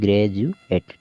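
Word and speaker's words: graduate: को यहां पर भी ग्रेज अल इसमें भी देखिए यू ए टी ई आया हुआ है देखिए यहां पर यू ए यू ए टी ई तो यहां पर भी डी को हम जैसे पढ़ रहे हैं ग्रेजुएट ठीक है तो ध्यान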